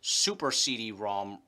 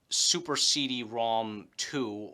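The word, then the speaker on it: Super CD-ROM²: North American releases and despite what the logos for both may show it's not pronounced super CD ROM 2 or super CD ROM squared you know it's super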